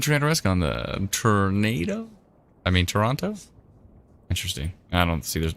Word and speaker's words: Toronto: I can tell you're not from Toronto, as you pronounce the second T. Oh, Toronto? Toronto. Well, I was trying to be very, like, Toronto. I was trying to be very Toronto. I was trying to hit every... Tirana? I want to just say Tirana. That's how you should pronounce it.